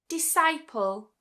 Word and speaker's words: disciple: But we're just going to say for the sake of this video that the C is silent. And what we tend to do is just pronounce it as a s sound.